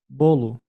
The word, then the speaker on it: bolo: Bolo. Bolo. Bolo. Yeah, that's bolu.